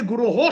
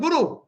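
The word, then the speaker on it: guroḥ: It's not Guru. It is not singular. It is Guru Ho, plural.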